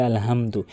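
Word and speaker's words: الحمد: আলহামদু। এখানে আসলে মারাত্মক লেভেলের ভুল এটি যে বড় হার জায়গাতে ছোট হাইনে উচ্চারণ করে। বলে আলহামদু।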